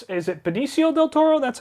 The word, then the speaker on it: Benicio del Toro: Poppins yondu and I think it's is it Benicio del Toro that's how you pronounce his name I believe yeah yeah but